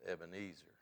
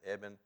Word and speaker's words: Ebenezer: Now we know that word in our English language as Ebenezer, a man's name generally in the that word actually is a transliteration of a Hebrew word that means a stone of help.